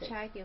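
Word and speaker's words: ChiaoGoo: I think it's pronounced Chiagu, Mom.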